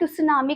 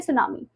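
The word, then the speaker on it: tsunami: इसे आप सुनामी करके नहीं प्रोनाउंस करोगे। इसमें टी साइलेंट है तो आप बोलोगे सुनामी।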